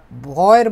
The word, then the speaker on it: W: তারপরে হচ্ছে এটাকে বলে হচ্ছে ভিআর, ডাব্লিউ যে অক্ষরটা আছে, ঠিক আছে, এটাকে ভয়ের মতো বা ইংরেজি ভি এর মতো উচ্চারণ করা হয়, ভিয়া। ঠিক আছে, ভিয়া কি বলে?